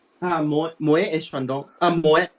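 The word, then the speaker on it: Moët: Moet, you be pronounced as Moet, even though it's French 啦。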